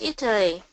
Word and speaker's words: Italy: one again that's in Italy good try a flap T Italy Italy it it Italy